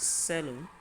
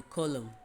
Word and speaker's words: coelom: Okay, talk about the formation of the cellum or the column, depending on what you call it. Just know the pronunciation, just know the correct pronunciation, and then the spelling.